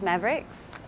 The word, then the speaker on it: MAVRX: mavrx is pronounced mavericks and that is kind of actually a play